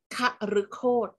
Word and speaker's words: คฤโฆษ: ตัว คอ นะ คะ เรา ออก เสียง แบบ เปรม พยางค์ เลย เช่น คฤโฆษ คฤโฆษ นะ คะ หมาย ถึง จุด